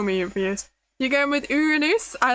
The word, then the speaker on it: Uranus: Uranus in Latin would actually pronounce Uranus. Uranus. That's cool. I like that. We never studied Latin at school, but that's interesting. It's strange because I know my parents' generation absolutely did study Latin at school, but at some point they decided it wasn't necessary anymore and they completely stopped it. Your preferred pronunciation is Uranus, not the common funny Uranus, yeah.